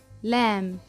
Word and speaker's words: lamb: line lamb-lamb L who lamb L o Lamb letter B at the end is silent the name of this